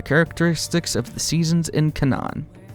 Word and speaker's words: Canaan: Her characteristics are the characteristics of the seasons in Canaan. Or Canaan. That's right, Canaan. That's how you pronounce that.